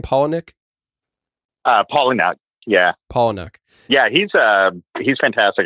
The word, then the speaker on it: Palahniuk: Is that how you pronounce his last name, Palahniuk? Palahniuk, yeah.